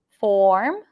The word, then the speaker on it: form: So the word form has the O sound, form, and the word firm has the stir sound. And if you do not pronounce the pure vowel for form, it is going to sound the same. Okay?